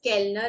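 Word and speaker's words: Kellner: The waiter is Kelner in German.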